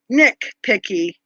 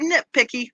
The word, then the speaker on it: nitpicky: want to be nitpicky nick picky is that how you say it i say knit and i t picky i've never heard nick picky yes i don't want to be nitpicky but i'm good at